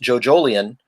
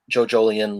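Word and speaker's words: JoJolion: my list and i said in there it's pronounced jojolian like evangelion not joe jolian like you know you'd say like a lion or something or not jojo lion yeah and um someone said like ah yes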